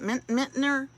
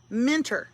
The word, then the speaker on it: Minter: I don't know how to say it. Mintner. How do I say your last name? Minter.